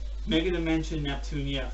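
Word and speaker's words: Megadimension Neptunia: no it's not it's actually phenomen to be pronounced mega dimension Neptunia e - of whites known as maybe the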